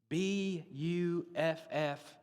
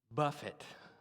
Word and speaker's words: buffet: that uses the word b-u-f-f-e-t now right before lunch let me tell you that is not pronounced buffet buffett all right i buffet